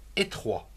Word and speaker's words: étroit: Terminons avec trois autres mots comme étroit, E, accent aigu, et T-R-O-I-T, étroit.